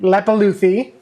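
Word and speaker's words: Leppalúði: I forgot how to pronounce his name. Lepuluthi. Lepaluthi.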